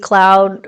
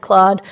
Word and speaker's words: Claude: I didn't know every query that you send to AI, like ChatGPT, Cloud, or Claude, however you'd like to pronounce that. I pronounce it Claude.